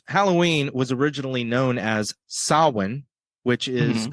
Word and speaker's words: Samhain: day of course Halloween was originally known as sawin which is spelled like Sam ha and a lot of